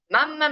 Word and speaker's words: mamma: Mamá, marca un poquito más la M, mamá. mamá. Exactamente. Es como cuando fingen ser italianos y dicen así de chiste, mamma mía, ¿ok? Nosotros marcamos mucho mamá, mamma mía, mamá, ¿ok?